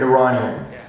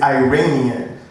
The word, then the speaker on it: Iranian: what's your name john you're one of the only people that pronounces it properly you said iranian okay and i am happy to be called iranian what i don't like is iranian because iranian to me sounds like e-y-e-ramian we don't say italian